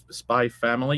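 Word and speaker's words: Spy × Family: with this with spy Spy family you never pronounce the X you just say spy family so uh that totally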